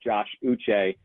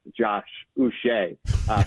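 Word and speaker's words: Uche: it's funny how you have a player like Josh uch uh where he's known as Josh uch in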